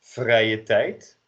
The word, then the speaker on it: vrije tijd: We start with an e and you end on an I.